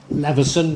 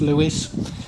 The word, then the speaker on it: Leveson: married Sir Richard and Leveson, but I think it's pronounced Lewis, his other niece, Alice,